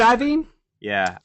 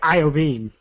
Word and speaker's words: Iovine: Jimmy Iovine like I said I beam ya cuz it reads like Iovine like iodine yeah well you know I watched a few videos just to see because I had never actually heard anybody say his name out loud and that's how they all seem to say it but anyway so the